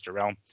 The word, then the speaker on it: Jarrell: Again, pronunciation, I want to say it's Jarrell.